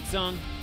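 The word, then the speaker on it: Tseng: Thank you, Tsung.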